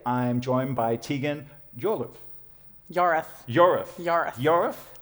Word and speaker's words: Yorwarth: Yorath. It's spelt with a W and a whole bunch of other letters, but it's actually pronounced Yorath.